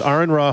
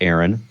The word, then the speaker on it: AronRa: Otherwise, of course, my YouTube channel is Aronra, pronounced Aron Ra. Right. Not Aaron, Aron.